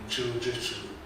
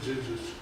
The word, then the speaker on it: дзюдзюцу: Это школа Кодакан Синьрюн, дзюдзюцу, чилджитсу почему-то. Это неправильное произношение, вообще дзюдзюцу.